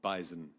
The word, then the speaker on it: bison: animal that is called Bison it ises a z I agree with the got a z b z it's it's a z that well it's not a silent Z it's just an invisible one uh with all that